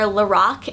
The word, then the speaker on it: Lorac: I met a girl that does work for Lorac, and she said that the name is pronounced Lorac because it's actually the creator's name backwards, so Carol, and backwards it would be Lorac.